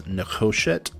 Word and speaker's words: nekoshet: So this is not nekoshet, this is nekoshet.